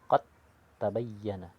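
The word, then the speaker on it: قَدْ تَبَيَّنَ: Contohnya qad tabayyana, qad tabayyana, dibaca langsung huruf ta tanpa membunyikan huruf dal ataupun huruf qalqalahnya. Tidak berlaku lagi huruf qalqalahnya. Bacanya qad tabayyana, qad tabayyana.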